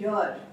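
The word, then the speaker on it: year: जो लोग ईयर शब्द को गलत प्रोनाउंस करते हैं और उसको ईयर बोलते हैं, वो लोग इसके आगे एन लगाएंगे, एन ईयर। बट इसका प्रोनाउंसिएशन क्या है? यर। यर की साउंड पहले आती है, so this has टू बी अ यर।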